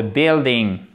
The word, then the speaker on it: building: The walls of the building. Et là, on ne prononce pas le U.